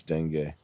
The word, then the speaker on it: dengue: How do you type in how to pronounce dengue? You can get severe dengue. It's like Bengay. Dengue for real. Dengue fever. Dengue fever. Oh, I was right. Dengue. He's calling it the Degu virus.